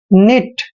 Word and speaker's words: knit: Next है KNIT, यहाँ पर भी एन से पहले के आया है तो के साइलेंट रहेगा, के का उच्चारण नहीं करना है। निट, निट मीन्स होता है दोस्तों बुनना।